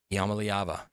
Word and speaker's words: Iamaleava: Smooth quarterback Nico Iamaleava? That's how he's pronouncing it now, Iamaleava.